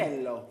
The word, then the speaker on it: Biello: Tell you what, if you have an espresso in the morning, you'll be able to say his name. Biello. There you go, little Illy coffee.